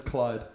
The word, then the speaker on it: Clyde: And it's Clyde, not Clive.